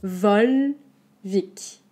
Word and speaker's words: Volvic: la mettre parce que c'est chez moi voilà vol vic vol très ouvert voire eu vol comme vol